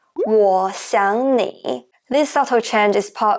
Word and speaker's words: 我想你: However, when native speakers pronounce this sentence, we often change the second character, 想, into the second tone. Instead of saying 我想你, we pronounce it like 我想你.